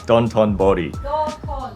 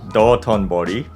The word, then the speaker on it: Dotonbori: Dontonbori. Dotonbori.